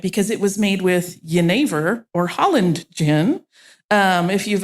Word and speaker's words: Jenever: Yeah, if you've only read the word Jenever on paper and no one has ever said it to you, you might think it's pronounced Genever because that is, so